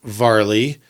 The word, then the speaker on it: Vley: Vley with not Chris Farley but a V instead of an F. Yeah. Actually kind of funny cuz it's spelled like Carly but with a V.